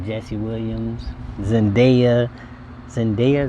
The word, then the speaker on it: Zendaya: Zendaya, is how you say her name, the actress.